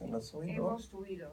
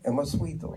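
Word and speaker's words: 14ymedio: So how is the Spanish pronounced? Emosuido. Emosuido.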